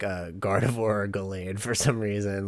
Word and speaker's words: Gallade: Eli has a I'm gonna say he has like a Gardevoir or Gallade for some reason, like something in that vein. Like, Again. is that how you pronounce it? Gallade, Gallade, yeah.